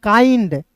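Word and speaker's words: kind: बताना चाहूंगा दोस्तों कि किसी भी वर्ड्स के अंतिम में आई एन डी आएगा तो उसका उच्चारण आइंड के रूप में करेंगे तो के का क और आई एन डी आइंड काइंड क्या हो जाएगा दोस्तों? काइंड हो जाएगा।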